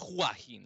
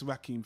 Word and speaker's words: Joaquin: Isn't it pronounced Joaquin Phoenix? I thought it was Joaquin, like Julio. You know, the J is like who?